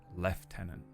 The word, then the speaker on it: lieutenant: It says the word lieutenant, but we say left tenant, and that's just confusing.